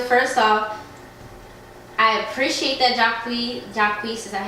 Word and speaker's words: Jacquees: So first off, I appreciate that Jacquees, is that how you say it? Yeah, Jacquees.